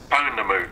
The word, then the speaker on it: pounamu: subject, and it's simply called, how do you pronounce the word Pounamu properly? Pounamu.